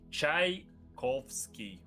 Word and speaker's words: Tchaikovsky: uh for the future Tchaikovsky is um his surname is basically made of the word chaika which means seagull so it's pronounced like chai kovsky yeah yeah basically uh